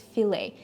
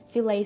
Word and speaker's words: filet: um of f okay you don't pronounce the last T in this case okay it's filet filet steak uh with some